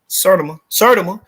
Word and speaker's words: Sertima: How you pronounce his name? Sertima.